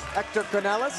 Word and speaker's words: Hector Canales: arena especially when Mr Hector Canales and you have to say his name like that at all times is in the building